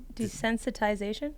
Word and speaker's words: desensitization: Desynthesis desynthesize desensitiz desensitization. Yeah, that's desensitization. Desensitization. There's no there's no th desensitization. Desensitization. There's no thensitization. Desensitization. There you go.